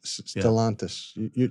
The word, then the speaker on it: Stellantis: Stellantis. You pronounced that one right, not me.